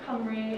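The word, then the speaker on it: Cymru: quick and dirty uh history of whales so come read or Wales as it's called an English Camry is the wealth pronunciation is a country that is part of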